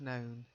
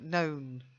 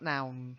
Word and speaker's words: known: To know, knew, have known. So known, April, not noun. Known. Known. That's much Known.